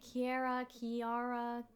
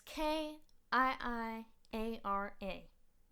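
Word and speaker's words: Kiiara: I don't know if it's like Kiara, but it's Kiiiara.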